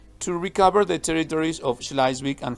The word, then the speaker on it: Schleswig: Remember that the W in German is pronounced V, and all the E-I are pronounced I. That is to say, it's Schleswig and Holstein.